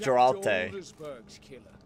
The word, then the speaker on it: Geralt: It's pronounced Geralt.